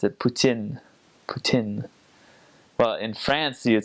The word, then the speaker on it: poutine: is called poutine and in French you would pronounce it Putin Putin well in France you'd say poutine but in Kovak they say Putin and it's it's it's french fries with cheese